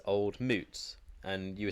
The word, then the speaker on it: Mout: And according to their website, it is in fact pronounced as MOOOT. Moot.